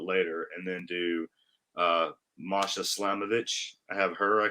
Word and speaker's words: Masha: put masha uh masha i always say matches she's like don't say my see i do i say it wrong i say it wrong it's masha you want to put